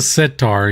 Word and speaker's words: sitar: I always mispronounce the name of the instrument he played, but no, it's a sitar.